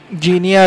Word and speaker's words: Guinea: नीचे you will find जीनिया reason, जिसको जीनी GUINEA spelling है उसका, पर जीनिया रीजन भी बोलते हैं, जीनी रीजन।